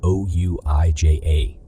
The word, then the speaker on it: Ouija: is called shared delusional disorder or steady a Ouija board is an object used in stories and movies to speak to souls although it is spelled o-u-i-j-a the actual pronunciation is Ouija a large sheet